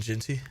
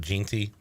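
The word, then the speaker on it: Jeanty: Ashton Genty. Genty. Yeah, I've heard Ginty. But we're going Genty.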